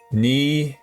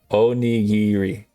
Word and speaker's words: onigiri: Nigiri. Nigiri? Onigiri. Onigiri? Did I say it correct? Or close. I'm making closer. I'm like E, O, ni, gi, ri.